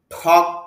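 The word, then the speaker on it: talk: আর এখানে যে এলটা আছে, এলের উচ্চারণটা হবে না।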